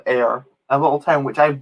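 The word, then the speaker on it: Ayr: town in in um it's spelt a yr not a ir but there's a town literally called air in scotland which i've been to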